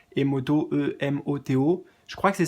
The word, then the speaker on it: Emoto: Euh, essaie de le mettre comme ça se prononce, tu vois, Masaru, enfin avec un S à la place d'un Z, Emoto, E-M-O-T-O.